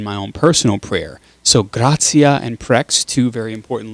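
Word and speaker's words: gratia: it forms the words so when you have uh the ati together it's otsiya okay tea is kind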